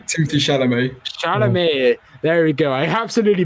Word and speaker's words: Chalamet: Paul being played by Timothy Charlet. I'm not sure about the second name pronunciation. Timothy Chalamet. Chalamet.